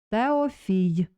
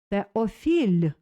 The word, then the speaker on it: Теофіль: Повторіть. Теофій. Теофіль. Не фій. Теофіль, - вимовив воробець гладко.